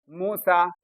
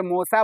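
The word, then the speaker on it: موسیٰ: आप बोलते हो देखो मूसा बोलते हो ना अब ये मूसा बोलते हो लेकिन देखो यहां पे या मारूफ गिरा हुआ है लेकिन लिखा हुआ है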